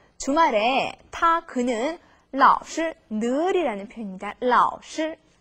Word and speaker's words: 老是: 老是 선생님하고 발음이 비슷하지만요. 여기서 시는 경상으로 읽어주셔야 돼요.